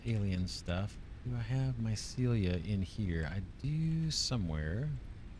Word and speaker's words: Mycelia: I've been pronouncing it wrong forever. Mycelia.